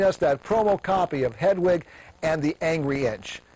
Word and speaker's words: Hedwig: and the Angry Inch Hedwig I think I said it wrong before you've got to be German to say it properly Hedwig I just can't seem to get it make it sound right but I try watch